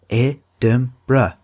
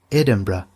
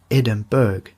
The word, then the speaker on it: Edinburgh: So, I want to give you all a quick tip that Edinburgh is pronounced Edinburgh, Edinburgh, like that, not Edinburgh.